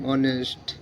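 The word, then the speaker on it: honest: R honour H ও এন ই এস টি অনেস্ট এইচ ই আই আর এ আর এখানে আবার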